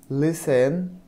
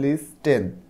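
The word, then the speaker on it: listen: দেখো বিতে বলা হচ্ছে লিসেন লিসেন মানে শোনা এখানে টি এর উচ্চারণটা হয় না দেখো এল আই S lease T এন টেন তুমি যদি টি এর উচ্চারণটা করো তখন হবে লিস্ট টেন কিন্তু টি এর উচ্চারণটা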